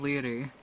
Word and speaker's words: Laoghaire: It is pronounced Leary. They are both Leary. Irish names.